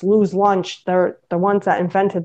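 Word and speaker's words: Louis' Lunch: totally like lose lunch it's spelled l-o-u-i-s it's you know Louise but it's Lou's lunch they're the ones that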